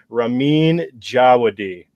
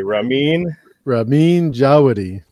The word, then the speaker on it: Ramin Djawadi: And let's everybody say his name properly. We're going to say it once. It's going to be Ramin Djawadi. Everybody repeat after me. Ramin Djawadi. Djawadi. There we go.